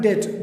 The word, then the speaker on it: debt: When B before T, in some places it is silent. Like in the word debt, when B comes before T, then this B is silent. For example, debt, D-E-B-T, debt, कर्ज जिसको हम कहते हैं, D-E-B-T, debt.